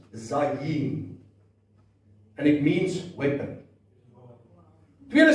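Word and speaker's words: זַיִן: It's pronounced zayin and it means weapon.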